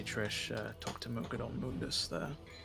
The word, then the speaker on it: Mundus: to mukadon Mundus there interesting pronunciation Mundus Mundus Mundus who knows I always say Mundus because that's just how I grew up reading it but I had a lot of people coming at me that say it's moonness okay like yeah I'm